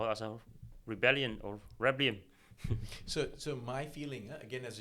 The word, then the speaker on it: Reblium: people ask me, and I also cannot pronounce my new startup called Reblium. And a lot of people saying rebellion, but that is exactly what it is. So Reblium is the Latin word for rebellion.